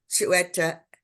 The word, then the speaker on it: Xueta: It's Xueta, Chueta with an X. And his documentary that he's going to talk about, now I'm going to try and practice saying it, is called Xueta Island.